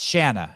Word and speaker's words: Shanna: and it's uh it's Shanna it's Shanna sorry that was uh you did I slapped around a little bit for calling her Shayna today uh Shanna chant like rhymes with banana Shanna Medeiros Ellie trained